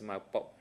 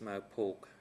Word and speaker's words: Mao Pok: It's absolutely my mispronunciation. I apologize, Mr. Witness. Maybe I can ask my colleague from the Q-Santon team, national colleague, to read that name, just to make sure that we pronounce it correctly. Kong On, thank you. And the name is Mao Pok.